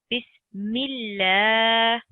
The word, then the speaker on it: بسم الله: One thing important to note is if you see Allah's name and before it you have a kasra, like here, or an E sound, then Allah's name is pronounced thin. For example, Bismillah.